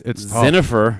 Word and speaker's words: Dzsenifer: Let's get the right pronunciation here. It's Dzsenifer.